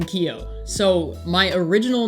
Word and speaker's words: Keeoh: question one how did you get the name kio so my original name on twitch was kio3 it's actually pronounced ko keo3 ko means joey and hawaiian and my